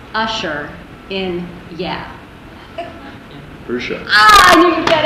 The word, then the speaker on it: Usher: How does Ludacris pronounce Usher in Yeah? Usher.